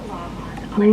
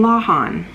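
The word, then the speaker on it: Lawhon: How to pronounce Ariel Lawin. Hi, I'm Ariel Lawin. Lawin.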